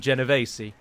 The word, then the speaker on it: Genovese: would pronounce it but in italian you would call them genovese and i just prefer